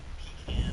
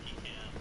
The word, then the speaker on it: pecan: Today I have brought a pecan pie. For those in the States, you might pronounce it pecan, you might pronounce it pecan. I'm from North Carolina in the South. I call it pecan.